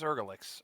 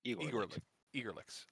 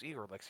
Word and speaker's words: Igorlix: His name's Ergalix, or how do you say it again? Igor, like Igor. Igorlix. His name's Igorlix.